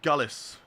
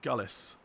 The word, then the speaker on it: Gullis: How do you say your second name? Gullis. That's how you say my second name. Gullis.